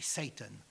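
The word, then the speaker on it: Seyton: Mais Satan en anglais ça se prononce comme le nom de Satan.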